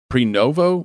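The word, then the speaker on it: Prenuvo: But what do you think of pre-novo body scans?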